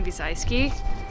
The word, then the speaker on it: Biesalski: he's gonna fall immediately here today with Connie via Celski how do you say your last name he's I ski here with Connie B's I ski in Long Beach getting together for little collab